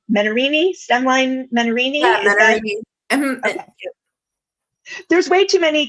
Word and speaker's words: Menarini: Yeah, Menarini.